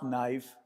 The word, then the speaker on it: knife: The problem was there were two consonants together and to make it easy they made the first letter silent as if it was not there. Easy to pronounce knife.